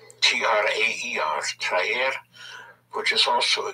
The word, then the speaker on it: traer: Then we have to bring, which is traer. To attract, to pull in, to bring, traer, T-R-A-E-R, traer, which is also a Google verb, traigo, T-R-A-I-G-O, traigo.